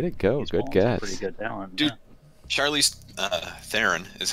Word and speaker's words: Charlize Theron: dang man wait it goes good guess dude Charlize Theron is how it's actually pronounced I knows because she did an episode